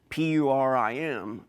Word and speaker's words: Purim: the Feast of Purim, P-U-R-I-M, Purim sometimes pronounced, they are remembering this great deed that Queen Esther did.